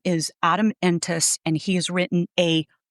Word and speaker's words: Entous: His name is Adam Entis and he has written a incredible article that came out on what was the date?